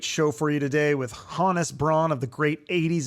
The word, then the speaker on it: Hannes: It's actually pronounced Hannes.